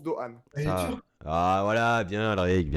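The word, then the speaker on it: Doğan: ça c'est quid de gamme mais ça se prononce doan voilà bien la ligue 1 eric mais non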